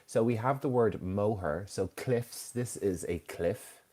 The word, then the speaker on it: Moher: So maybe some people get confused about the pronunciation, but it's the Cliffs of Moher.